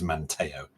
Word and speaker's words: Manteo: the details now but the correct pronunciation is Manteo so yeah because I've